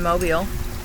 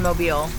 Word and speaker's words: Mobile: And that is in Mobile.